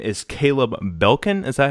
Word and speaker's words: Caleb Belkin: And his name is Caleb Belkin.